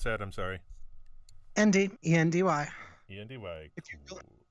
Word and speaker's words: Endy: How do you pronounce that? I'm sorry. Endy, E-N-D-Y.